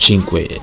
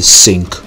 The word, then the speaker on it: Cinque: it's pronounced chin because that's the Italian word for five they made five version